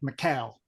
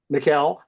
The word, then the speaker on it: Mikal: to say it because people pronounce his name like Mikhail, like the Russian equivalent. And so I, he I wanted to know how probably you would have coped. too. Good question, Mikkel.